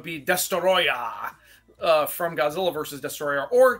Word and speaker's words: Destoroyah: It's the Japanese pronunciation of the word Destroyer.